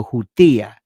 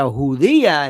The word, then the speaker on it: hutia: It's called a hutia. Not a hudia is like a Jew. You got to be careful how you say it, but it's a hutia.